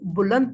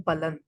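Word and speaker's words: بلند: इसको हमें बहुत सारे लोग हमें यहाँ पर इस लफ्ज़ को बुलंद पढ़ रहे होते हैं, हालांकि इसका दुरुस्त जो इमला है और जो दुरुस्त इसकी प्रोनाउंसिएशन है वो है बुलंद। यानी बा के ऊपर ज़बर है, ये फारसी ज़बान का लफ्ज़ है बुलंद।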